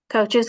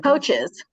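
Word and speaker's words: Kishwaukee: name of this community I don't want to mispronounce it say it for me coaches community at the top yeah kicha K coaches coaches Community College thank you using oh I'm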